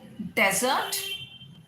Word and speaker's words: dessert: Next is, हाँ एक ये बहुत कॉमन सा है, डेजर्ट, डिजर्ट। तो डेजर्ट आपका रेगिस्तान, DESERT, डेजर्ट। और DESSERT, इसमें आप सिलेबल किस पे स्ट्रेस करेंगे? डी, डिजर्ट, डिजर्ट बोलेगा, डिजर्ट, राइट? सो डेजर्ट, डिजर्ट।